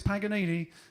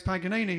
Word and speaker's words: Paganini: There's a Stuart Granger plays Paganini in the movie, and what's that? Not how you say it. That's how you say Paganini in English. What is it? Paganini.